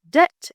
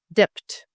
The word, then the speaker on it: debt: words with silent letter many English words include letters that are written but not pronounced leading to common mistakes